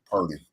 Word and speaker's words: Purdy: Purdy. Let me pronounce his name right.